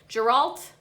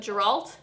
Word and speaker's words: Geralt: think his name is Gault Geralt like jerel's but Geralt maybe I've been saying it wrong this whole time